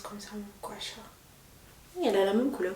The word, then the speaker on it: gua sha: Et ça se prononce comme ça, gua sha.